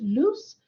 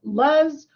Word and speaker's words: Luce: My first name has 3 letters, Luce, but some people have issues pronouncing my name. I've been called Luz or even sometimes.